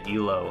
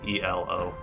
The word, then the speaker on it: Elo: me in the chat to pronounce it ELO instead of e o uh yeah I I